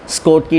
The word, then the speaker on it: Schottky: मैं इसको शोकी बोल रहा हूँ, SCHOTTKY। Pronunciation might be different, स्कोटकी defect and Frenkel defect, लेकिन एक कारण से मैं इसको शोकी बोल रहा हूँ।